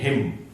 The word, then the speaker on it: hymn: जी हां, तो कीर्तन भजन और आरती के लिए हम बोलते हैं हिम। ये वर्ड है HYMN एंड इसका जो प्रोनाउंसिएशन है उसको हम बोलते हैं हिम।